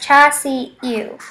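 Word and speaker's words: char siu: Cha si eu is Cantonese roast pork and is pronounced cha si eu.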